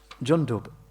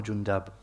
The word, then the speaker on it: Jundub: again, that he is Jundub, and his name can be pronounced either way. It's correct either way, Jundub or Jundab. Both are correct, with a dhamma or with a fatha on the dal.